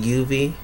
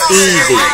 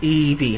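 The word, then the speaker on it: Yvie: Is it Yuvi? Something like that, anyway. Evie. This is Evie. Yes, it's Evie, honey.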